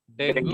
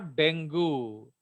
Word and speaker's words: Dengue: Actually it इज नॉट डेंगू, उसका pronunciation है डेंगी, याद रखना। Dengue. Okay, yes इट इज Dengue. डेंगी, बट लोग डेंगू डेंगू बोलते हैं, एक्चुअली वो डेंगी है।